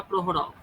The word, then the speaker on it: Prokhorov: Levy প্রখরভ আচ্ছা। বা প্রহরভ, কেইচটা silent হবে।